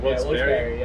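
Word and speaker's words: Wilkes-Barre: gonna have his placement Wilkes Bar, right? Barry. And then is that how you say it? I've heard different things. I think it's Barry. Wilkes Barre.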